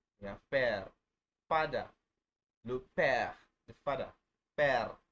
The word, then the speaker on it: père: Le père. The father. Père. You don't say pere. I've heard a lot of people calling it pere. I don't know where they get that from. But it's père.